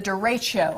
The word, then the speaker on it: derecho: The derecho.